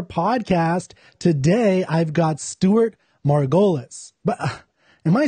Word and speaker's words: Margolis: Today, I've got Stewart Margolis. But am I saying your name correctly, your last name? Margolis. No, you said it right Margolis.